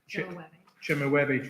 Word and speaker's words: Chemehuevi: It's pronounced the Chemehuevi tribe from Southern California, which she was telling us is near extinct.